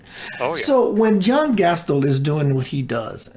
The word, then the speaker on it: Gastil: What is your pronunciation? Gastil is the way Gastil.